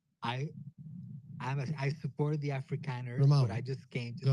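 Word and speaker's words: Afrikaner: It's actually Africaner.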